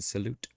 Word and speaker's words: salut: Roberts said there's no T pronounced in salute, bro.